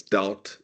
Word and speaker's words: doubt: my students about what that word doubt rhymes with it's doubt about okay and the question